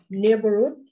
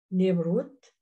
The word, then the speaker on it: neighborhood: Neighborhood. هنا طبعا silent. Neighborhood. Right, silent, GH.